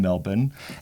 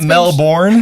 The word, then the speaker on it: Melbourne: in that sentence wasel you pronounced it correctly you didn't you didn't drag that out why thank you well done not Melbourne not Melbourne no melb well done well done